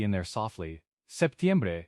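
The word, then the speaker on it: septiembre: Traditionally, it's often pronounced with a very soft P or sometimes it's almost dropped in casual speech, but the most standard pronunciation includes it.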